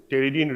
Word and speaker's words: pteridine: One pteridine ring, P is silent here, pronunciation is pteridine ring, plus para-amino benzoic acid and plus glutamic acid.